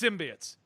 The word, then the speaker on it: symbiote: I don't give a shit how they repronounce symbiote. It's symbiotes. It's always been symbiotes.